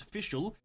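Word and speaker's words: Fischl: if you guys know this her name is official uh spelled f-i-s-c-h-l nobody in earth would spell it that way but it is spelled that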